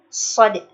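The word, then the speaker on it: ص: Huruf shad itu karakternya tebal karena pada saat pengucapan huruf shad itu pangkal lidah kita naik. So, shad, shad, shad, shad, so, so, so, so, so, so.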